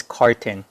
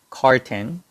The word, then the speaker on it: carton: cigarettes and this is carton carton and the phonetic symbol is like this and the stress is on the first syllable right there and it's car r and 10. so it's carton carton so we use